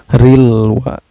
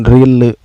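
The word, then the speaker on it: الْوَسْوَاسِ: Cara bacanya lam sukunnya ini dibaca secara jelas ya, gak boleh memantul, harus jelas. Rilwa, bukan rile, gak boleh rile, gak boleh memantul ya, tapi harus jelas bacanya.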